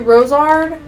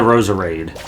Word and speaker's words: Roserade: Rosalie into Rosard. Rosalie. Yeah, now you got me jacking up. It's Rosalie into Roserade.